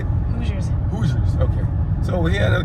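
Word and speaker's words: Hoosiers: interesting very nice I I was calling people in Indiana whoers before but I told the correction is how you say it hoers hoers okay so we're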